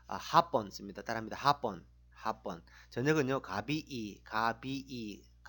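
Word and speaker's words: Hapon: 딜리꼬는 뭐 그러면 딜리꼬 합본 합본 이게 중요한데 발음이 앞에 강세가 있으면 마용 합본 앞에 강세 있으면 오후입니다. 아까 배웠다시피 오후 인사 마용 합본. 근데 뒤에 강세가 붙어가지고 합본 하면 일본이 됩니다.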